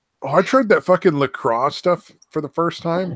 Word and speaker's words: LaCroix: Oh, I tried that fucking LaCroix stuff for the first time. That stuff is really good. Yeah. The That what? fruity Lacrosse? seltzer water in a can, LaCroix, LACROIX.